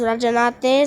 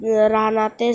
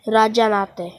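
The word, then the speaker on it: Rajahnate: The Rahanat, it was pronounced Rajanate, so I mispronounced it Rahanate, so I pronounced it correctly, Rajanate.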